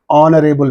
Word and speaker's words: honorable: that okay and next honorable man is there in this H is silent we are pronouncing the